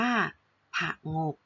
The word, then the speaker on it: ผงก: ตัว อย่าง นะ คะ คำ ว่า ผงก อ่าน ว่า ผงก นะ คะ เขียน ให้